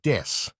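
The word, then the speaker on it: です: An example is that when BABYMETAL introduces themselves, they will use a pun with the English word death instead of the Japanese word des.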